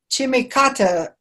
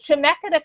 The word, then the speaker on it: Chemeketa: college at Salem Salem I was trying to pronounce that chimie kata Oh Chemeketa Community College that's the name of the college but the city is